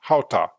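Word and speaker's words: חטא: It's pronounced as hata.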